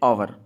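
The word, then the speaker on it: hour: the station for एन आवर अब इसमें देखिए यह जो एच ओ यू आर है इसमें जो एच है वह साइलेंट है इसको आवर बोलते हैं इस आवर में जो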